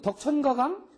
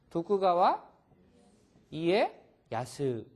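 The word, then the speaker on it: 徳川家康: 이거 어떻게 읽어 그러 덕천가강 일본 사람한테 유 덕천가강 알아 그러면은 하나도 모르지 덕천 가강 어떻게 알아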